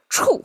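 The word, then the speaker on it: 畜: Leg pig, pronounced as okay, "chù".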